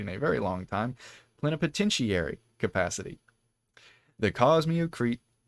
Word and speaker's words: plenipotentiary: Plenipotentiary. That's how you pronounce it.